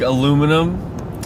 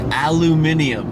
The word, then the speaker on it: aluminium: Like aluminum. You know how they pronounce aluminum in Britain? It's pronounced aluminium. Aluminium. Which if you look at the word, that's how it's spelled.